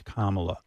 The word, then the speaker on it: Kamala: mispronouncing your name they they act as if they can't say comma it's not that complicated it's what what's going on what what really is going on there when they can't pronounce Kamala is it supposed to